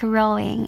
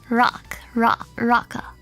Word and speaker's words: Roca: It's not like rowing. It's like rock rocka.